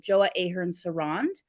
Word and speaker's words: Joa Ahern-Seronde: um I'm sure I don't like say your name wrong on like live broadcast but joa Ahern sarand that's perfect excellent now what is an incredible